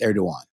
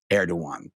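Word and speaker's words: Erdoğan: I've heard it pronounced Erdogan. I think it is Erdogan. The G must be silent.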